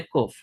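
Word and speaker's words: ק: और कॉफ जो है उसका साउंड क्या होता है? क्यू, यानी कि क का साउंड होता है, लेकिन इंग्लिश में लिखने के टाइम पे हम लोग उसे क्या लिखेंगे? क्यू। ये कॉफ है, ये क्यू का साउंड देगा, जैसे कि क्वीन है ना, वैसे।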